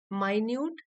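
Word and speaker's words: minute: प्रति सचेत होकर पे माइन्यूट अटेंशन यहां पर देखिए स्पेलिंग तो इसकी मिनट के जैसी है सेम मिनट नहीं है लेकिन यहां पर एडजेक्टिव है माइन्यूट अटेंशन मींस बारीकी से ध्यान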